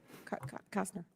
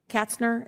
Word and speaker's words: Katzner: How about you, Kastner? Katzner, is that how you say it? Yes.